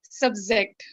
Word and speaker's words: subject: Subject. No, subject. Same ja that you use in sabji, use it in subject.